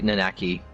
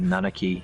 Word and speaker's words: Nanaki: I say Nanaki, always have, but some Americans say Nanaki, and I'm not on board with that.